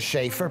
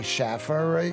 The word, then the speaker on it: Schaefer: Well, my name is Schaefer. People say Schaffer.